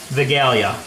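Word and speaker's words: Wigilia: pries cuz that is a Polish tradition called velia which spelled with a W and um basically it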